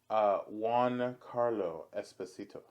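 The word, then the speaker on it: Giancarlo Esposito: no, now that I know how to say his name, Mm, it's Juan Carlo Esposito.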